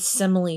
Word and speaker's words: simile: first simil kind of if you if you look at the word pretty quickly it kind of almost looks like like the word smile but it's simil that's how you say it simile a simile is